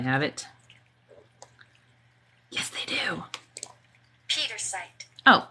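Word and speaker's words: Pietersite: Pietrosite. Oh, Pietrosite. That one's easy. I thought it was like Pietra. I was making it fancy. Pietrosite.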